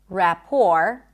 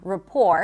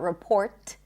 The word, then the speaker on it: rapport: Rapport. You can also put a schwa at the beginning. Rapport. It's not report.